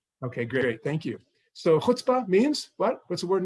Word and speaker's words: chutzpah: Chutzpah, often pronounced as chutzpah.